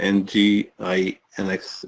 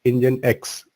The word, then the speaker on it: Nginx: And so I think you explained NGINX. Is it? Yeah, this is Nginx pronounced as Nginx.